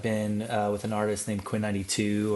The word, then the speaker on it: Quinn XCII: So for the last like 5 or so years, I've been with an artist named Quinn 92 or Quinn XCII is how you spell it.